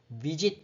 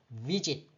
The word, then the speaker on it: visit: 이 발음 기호상 발음을 하라는데 어떻게 하라는 거냐면 visit 이렇게 발음하라는 거예요.